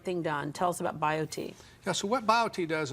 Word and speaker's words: BioTE: happier log on to biot medical dot com and biot is spelled b i o t e so bio t medical dot com easy read